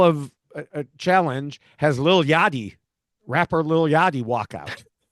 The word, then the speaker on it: Yachty: Oh, like a yacht. Yachty. Yeah, Lil Yachty. See, your accent made me think it was Yaddy, like Yaddy.